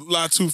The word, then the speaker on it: Latu: think it's that's it I think it's Lau latu Alla latu so latu for sure bless got you um